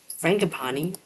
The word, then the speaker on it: frangipani: Pronunciation, because I don't want to say this. Frangipani.